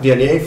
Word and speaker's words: Viognier: Viognier from, I said it right that time.